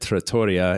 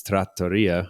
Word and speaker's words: trattoria: So trattoria is the also I always pronounce that in my head trattoria. It's trattoria.